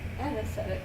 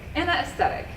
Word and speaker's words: Ana Aesthetic: here with the lovely Anna aesthetic um an an aesthetic an aesthetic okay I said it right the first time